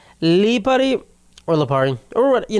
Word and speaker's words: Lipari: So, Leari, Lipari, Lipari, guys, if you want to pronounce my name correct. Lipari, Lipari or Leari or what, you know, whatever you want to say.